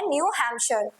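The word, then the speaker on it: New Hampshire: लेट me make it clear कि काफी लोग इसे हैम्पशायर भी पढ़ते हैं, न्यू हैम्पशायर, but correct pronunciation है न्यू हैम्पशायर।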